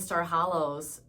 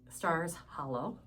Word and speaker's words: Stars Hollow: They were in town for the Gilmore Girls uh destination Star Hollows. Stars Hollow. Got to say it right.